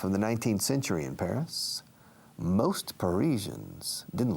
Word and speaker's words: Paris: Paris. Notice the pronunciation, Paris, como una pera, pear.